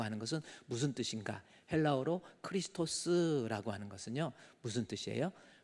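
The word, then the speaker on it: Χριστός: 헬라어로 크리스토스라고 하는 것은요. 무슨 뜻이에요? 크리스토스.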